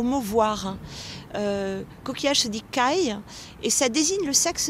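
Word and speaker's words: 貝: Moi, ce que je verrais, c'est que le mot coquillage au Japon s'écrit avec un idéogramme qui ressemble énormément au mot voir. Coquillage se dit kai et ça désigne le sexe de la femme.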